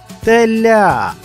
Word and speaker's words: теля: Наприклад, теля. Який склад наголошений у цьому слові? Теля. Правильно, у цьому слові наголошений склад ля.